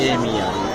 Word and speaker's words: Amer: AMBER जो real है अम्बर। अभी बी साइलेंट करके AMER।